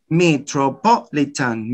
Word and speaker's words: metropolitan: not just once twice metropolitan metropolitan notice twice here you have two stresses and you can notice